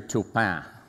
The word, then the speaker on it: Taupin: entire career that actually pronounced my name with the French pronunciation. And I'm haunted on what the French pronunciation is. Well, he said it better than me, probably, but it's actually Taupin.